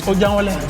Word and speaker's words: Ojangole: But you didn't say it right. It's ojangole.